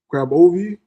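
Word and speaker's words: Grabovoi: Um, grab a graovi. Graovi numbers. That's how you say it. G R A B O V O I.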